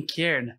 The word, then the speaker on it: cairn: para sinalizar alguma coisa, um kern na pronúncia em inglês.